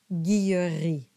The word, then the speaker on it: Guilleri: Both are correct, and they're pronounced the same, Guillery.